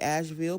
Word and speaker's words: Asheville: of North Carolina, we had Hurricane Helene, and Asheville was really Asheville, but it's spelled like Ashe, like one way you would